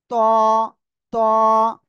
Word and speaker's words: ط: এই অক্ষরটা এ অক্ষরটা ওই একই জায়গা থেকে উচ্চারণ হবে কিন্তু এই অক্ষরটা একটু মোটা হবে সবাই এ অক্ষরটাও এখন উচ্চারণ করবেন ত ত একসাথে বলেন মাশাল্লাহ